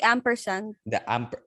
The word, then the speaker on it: ampersand: So, Exie, That's called the ampersand. how do you spell it?